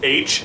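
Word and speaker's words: Aych: you're like like the one of the characters name is H and so I just always assumed it was the letter H but they spell it like a y c h cuz I tried to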